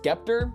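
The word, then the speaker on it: Sceptre: thing wrong for a long time apparently it's pronounced skepter but anyway this is a basic 24 inch scepter monitor nothing special it's a 75hz display i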